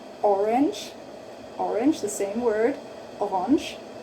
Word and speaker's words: Orange: Die Karotten sind orange. Orange, orange, orange, the same word, orange. Just don't say, just pronounce it differently again. Orange, orange, orange, orange. It's more like French, huh?